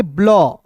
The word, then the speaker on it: blue: चलिए दोस्तों उसके बाद यहाँ पे देखेंगे BLUE है, तो BL को क्या पढ़ेंगे, ब्लॉ। BL को क्या पढ़ेंगे दोस्तों, ब्लॉ, और UE अंतिम में आएगा तो उसका उच्चारण यू के रूप में करेंगे तो BLUE को क्या पढ़ेंगे दोस्तों, ब्लू पढ़ेंगे।